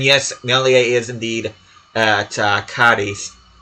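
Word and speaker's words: Cádiz: And yes, Melia is indeed at Cadiz, because the Z is pronounced like a TH in that particular region of Spain.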